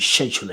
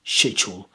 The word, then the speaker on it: schedule: So schedule or you schedule it, schedule. So if you want to more of a British accent, a modern RP, you want to say schedule, schedule. You're more likely to hear schedule, schedule.